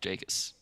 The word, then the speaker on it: JKS: I like when you just pronounce Jakus. letters. Jakus. Yeah. It's like janky.